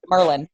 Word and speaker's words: Maryland: maryland in terms of i call it maryland where as you call it maryland um merlin baltimore's merlin if you live in baltimore you don't pronounce all those letters either anyway maryland maryland how